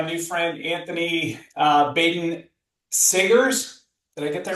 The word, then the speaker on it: Saggers: I'm here with my new friend Anthony uh Ben Sagers. Did I get that right? Sagers, but that's okay. I've heard worse pronunciations.